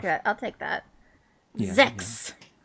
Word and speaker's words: sechs: Yeah, Sechs. Absolutely. Including including the unvoiced S.